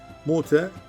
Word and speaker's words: Mute: Şam tarafında muteye ki Mute kelime hemzesi şekilde Mute diye okunur Eskiden Şam topraklarında yer